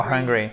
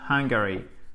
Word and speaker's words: hungry: Alors pas angry. You're hungry? You're angry or hungry? I'm hungry. Okay, hungry and not Hungary.